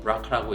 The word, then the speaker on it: BRCA: 졸리는 어머니가 유방암이셨고 졸리도 BRCA, 보통 브라카라고 읽는 유전자의 변이를 가지고 태어났는데요.